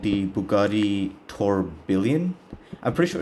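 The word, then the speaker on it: Tourbillon: it's called the Bugatti torban I'm pretty sure it's pronounced toon you know kind of like in the French Italian way that they do it wa bugat is Italian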